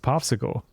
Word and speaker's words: PopSQL: So I think this is actually pronounced popsicle.